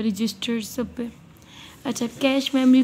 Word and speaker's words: cache: है अब कैश memory कैश कैश इसको प्रोनाउंस करते हैं इज अ स्मॉल स्मॉल